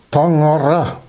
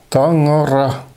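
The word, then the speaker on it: Таҥара: On prononce ce mot en yakut Tangara. Tangara.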